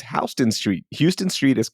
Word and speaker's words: Houston: In New York it's Hston Street. Houston Street is pronounced Hston Street. So like that H is different.